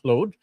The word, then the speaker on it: Claude: the way, funny enough, folks who are native French speakers pronounce it totally different. They call it Claude, and during the workshop, I was like, "Who?